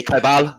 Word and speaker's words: Kobel: Well, you say Kobel. That's how you say it in Germany.